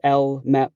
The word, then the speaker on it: LMep: That's pronounced LMep, by the way, as in Lake Michigan Entertainment Plaza.